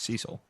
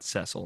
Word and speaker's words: Cecil: A year ago and his name was Cecil not cesil none of that you know spelled the same he was spelled the same yeah but they they approach